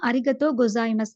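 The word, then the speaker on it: ありがとうございます: இல்ல பாத்தீங்கன்னு சொன்னா அரிகத்தோ அப்படின்னு வர இடத்துல தோ அப்படின்றது வந்து லோங் வவலா வரப்படுது. அதனாலதான் அந்த இடத்துல வந்து உ அப்படின்ற எழுத்து வந்து எட் பண்ணப்பட்டிருக்குது. அதை ரீட் பண்ற நேரம் வந்து நீங்க அரிகத்தோ அப்படின்னு ரீட் பண்ண வேண்டுமே தவிர அரிகத்தோ உ அப்படின்னு ரீட் பண்ற இல்ல.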